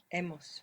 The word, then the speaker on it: he: So we have emos. Good. How do you spell it? E h e h e. Good. And that h comes from abber that silent h that you have there.